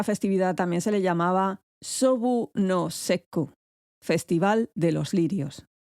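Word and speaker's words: 菖蒲: cosa de que los lirios o sobu en japonés se pronuncia como valorar los asuntos militares. Sobu, misma pronunciación, diferente kanji, diferente ideograma.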